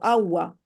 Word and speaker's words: agua: Por ejemplo, la palabra como agua, en jaquetía no se pronuncia la G, ¿no? Ya desaparece.